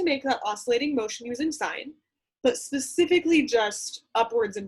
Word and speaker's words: sine: the function SI n which I realize looks like sin it is pronounced sine you will see this